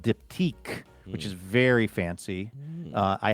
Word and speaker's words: Diptyque: And it's spelled almost the same, but it's diptyque.